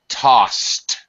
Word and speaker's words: tossed: It's but be careful of uh pronunciation. Tossed. To right because uh the s sound is u is an unvoiced sound.